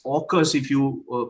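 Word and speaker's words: AUKUS: that is called a u k u s orcas if you uh pronounce it a stands for australia uk stands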